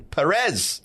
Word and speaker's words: Perez: We're here with Rodney Mack and Perez.